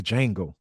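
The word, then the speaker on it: Django: doing D Jango Unchained the Jango I am you know the D is silent oh well you know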